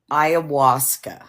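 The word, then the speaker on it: ayahuasca: Ayawasa.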